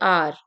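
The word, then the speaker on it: hour: लेकिन हम पढ़ रहे हैं इसे आर। ठीक है? क्योंकि यहां पर एच जो है वो साइलेंट है। ठीक है? एच को हम नहीं पढ़ते हैं। एच को हम एज अ साइलेंट लेते हैं। ठीक है? तो आर में हमने एच को नहीं पढ़ना है।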